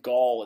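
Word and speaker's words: gaol: old jail in barnstable massachusetts or the old gaul as it used to be called right did i pronounce that right derek that's correct okay perfect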